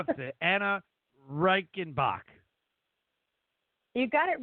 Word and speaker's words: Anah Reichenbach: mess this up though because I can never pronounce the ANA Reichenbach you got it right oh my gosh I